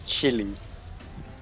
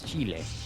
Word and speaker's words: Chile: in my life where i pronounced chile as chili uh yeah that's something the kind of in english that's i think that's like how they pronounce it chili i mean my chili was that you know that food spice yeah yeah yeah but no it's it's chile i i learned that